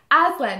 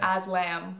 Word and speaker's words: Aslan: So yes, this is my boyfriend named Aslan. You want to spell that? A-S-L-A-N for November, not M for... People always call him Aslam. And I'm like... It's an N.